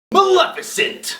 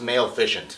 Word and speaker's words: Maleficent: seeing the movie I finally know how to pronounce this movie's name malefant Maleficent when I first saw the trailer for this movie I thought it was pronounced male ficient which sounds like a Viagra by the way